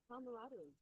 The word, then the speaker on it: camaraderie: not sure if it's camarra or camra camaraderie pronunciation camra MH camaraderie yeah camaraderie camaraderie it's more Latin yeah with